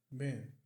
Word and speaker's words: been: A pronúncia aqui de been é quase com o som de B. Ben. Ben. Não chega a ser exatamente o som de E, mas é quase isso.